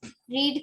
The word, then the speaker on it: read: रीड का हो जाएगी प्रोनाउंसिएशन रेड.